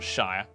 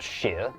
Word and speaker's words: shire: And for our American viewers, it's pronounced sheer, not shire. Actually, it's pronounced shire, not sheer, plebs.